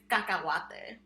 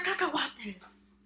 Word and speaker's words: cacahuate: So I'm going to teach you my personal favorite Spanish word is cacahuate.